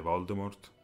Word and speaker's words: Voldemort: Come si pronuncia correttamente Voldemort come confermato dalla stessa Rowling si pronuncia senza la t che è silenziosa Aggiungendo che probabilmente lei